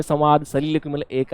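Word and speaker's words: soliloquy: अगर देखा statement which is true about सलीलकवी। सलीलकवी जो होता है, इसको देखो सलीलकवी पढ़ते हैं, सोलिलोक्वी नहीं मत पढ़ना।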